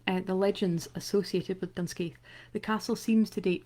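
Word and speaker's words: Dunscaith Castle: dunwegen or clan donald for armadillo there is dunskeith castle so sometimes called dunskeith that's how i would pronounce it um but also also known as damskaja so uh either will will serve um which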